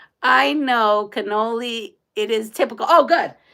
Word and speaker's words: cannoli: You have to pronounce the N's in cannoli. Cannoli.